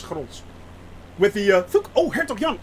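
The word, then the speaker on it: Grolsch: like Amstel, I like Gros very much, yeah. For those that actually are wondering, is it pronounced Gros? Yes, it is pronounced Gros with the G. It's Gros.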